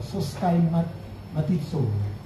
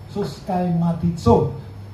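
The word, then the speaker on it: συσχηματίζω: itu langsung sat lagi nah bacanya itu sa soska matitso soska matitso Bisa sama-sama diulangi soska matitso Apa itu serupa menjadi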